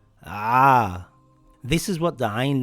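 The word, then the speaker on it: ع: To pronounce ayn, it must come from the back of the mouth in the throat. If you pronounce it as ayn, as in the letter A, you have pronounced it wrong. It is as if you are biting a big apple. Ah!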